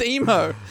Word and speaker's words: Imo: The SS Emo. Sorry. Emo? Spelled IMO, but I have heard it pronounced emo.